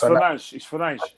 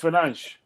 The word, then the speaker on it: Fernandes: No, it's Fernandes. It's Fernandes. Because the thing about it is that, like Portuguese, in Portuguese, the S, the ES is like S. But what's happened is it's a silent thing as well.